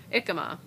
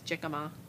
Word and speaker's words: jicama: I tried jicama, and it's taken me 3 weeks to pronounce that right. Thought it was jicama.